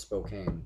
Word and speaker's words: Spokane: It's called Spokane, but some people say it's Spokane. Because it's spelled Spokane. Yeah, so it looks like Spokane, but it's actually Spokane.